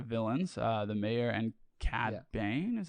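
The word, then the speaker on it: Cad Bane: say were the villains uh the mayor and cat bane is how you say his name i thought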